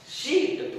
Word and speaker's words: sheet: होता है, सीट, SHEET, सिट नहीं बोलने का, शीट, थोड़ा सा शब्द को खींचेंगे क्योंकि यहाँ पे डबल ही है।